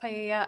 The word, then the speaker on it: paella: that was going to be used to cook paella. I'm not sure if that's how you pronounce it at the party. It's pronounced paella.